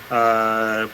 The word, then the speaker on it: Somers: We're gonna start out with Suzanne Somers, or Somers. I believe it's pronounced Somers.